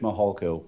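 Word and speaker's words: Mihalko: court reporter you bet my name is Mitch mahalco good morning I'm a commander with the El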